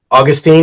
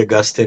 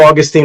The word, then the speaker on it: Agustin: way it's spelled right Augustine agu I don't say Augustine because I don't like that pronunciation it's like we sing in Spanish but so it's a